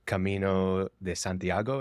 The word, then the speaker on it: Camino de Santiago: the other one was the Camino de Santiago is that what it is yeah that's how you say it good job and uh